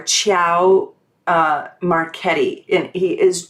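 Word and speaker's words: Ciao: any italians on here it's like c-i-a-o chow or chow uh marchetti and he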